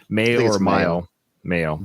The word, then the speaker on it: Mayo: Mayo, like mayonnaise.